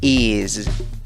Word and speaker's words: is: Empiezas pronunciando la palabra con una I corta. I. Y luego agregas el sonido Z, Z, el de la Z. Y dices is.